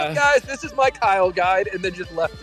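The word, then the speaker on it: Kyln: Oh my God, everybody pronounces Kiln a different way. It's gotta be Kiln, right? K-Y-L-N, Kiln. No, it's Kyle. That's how you pronounce it.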